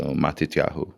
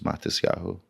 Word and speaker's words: Matisyahu: So Matetyahu but the Ashkanazi pronunciation is Matiahu.